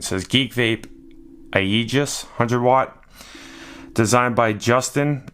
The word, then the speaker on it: Aegis: business data today we're looking at the a Aegis perfect that's how you pronounce it by geek beep alright this is